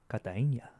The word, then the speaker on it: Cartagena: I was in Medellin and Cartagena. I can't pronounce them right. Yeah, clearly. Well, Cartagena, I can get closer. Cartagena, they say like, Cartagena.